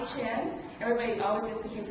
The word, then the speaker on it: Chien: your world track under close of then chin everybody always gets confused how to pronounce but it's right in terms of forget the phonetics that you see on the screen but it's chin uh CEO and chief strategist of value growth